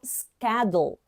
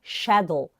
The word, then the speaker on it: schedule: Só que essa palavra, no American English, a gente pronuncia como schedule. Schedule, ok? E o British, a gente pega essa palavra, a mesma palavra, e pronuncia como schedule.